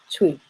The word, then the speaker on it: Twi: so focusing on tree tree is spelled Twi but you can see that it's not pronounced as you hear it in English will be pronounced it's pronounced tweet which is Twi and